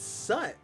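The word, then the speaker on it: soot: It's sut. But why is he a bunch of crows? That was the weird thing. The crow could talk. It's written as suit, pronounced sut.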